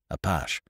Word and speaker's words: Apache: Craig gave it its gallicized pronunciation. "Apache."